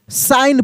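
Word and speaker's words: sign: wooden साइन अब जी यहां पे क्या है साइलेंट है एस आई जी एन साइन पढ़ेंगे ठीक ना द साइन द साइन said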